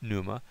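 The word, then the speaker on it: πνεῦμα: Pneuma. Now notice in this case I did not pronounce the pi or p.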